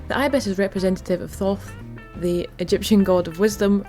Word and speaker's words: Thoth: The ibis is representative of Thoth, the Egyptian god of wisdom, writing, science and judgment.